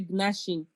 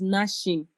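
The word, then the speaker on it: gnashing: I've always heard people say ginashing. Okay. but is not correct. It is nashing.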